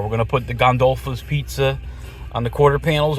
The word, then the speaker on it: Gondolfo's: I keep saying Gondulos, but it's Gondula.